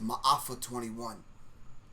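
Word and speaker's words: Maafa 21: talked about this um the pronunciation of the film that Quan is talking about is my offer 21 all right smile for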